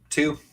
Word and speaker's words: Tew: is do you how do you say your last name just two two just like it looks like from not your dad's